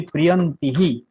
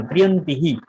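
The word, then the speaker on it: প্রিয়ন্তিঃ: যদি ইকার থাকে তাহলে হি হবে। আচ্ছা, যেমন ধরেন আমি যদি এরকম বলি আহ প্রিয়ন্তি, ঠিক আছে, আমি যদি বলি প্রিয়ন্তিহি, এখানে কিন্তু ইকার আছে,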